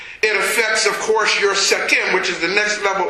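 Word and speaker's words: Sekhem: And this is the fifth level in the energy center, and it's called Sechem. It's spelled S-E-K-H-E-M, Sechem.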